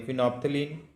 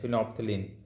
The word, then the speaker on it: phenolphthalein: Phenolphthalein, no, L is silent, phenolphthalein.